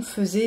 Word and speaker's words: faisait: Attention, faisait, même si on n'entend pas le AI au début, ça s'écrit bien F-A-I-S-A-I-T.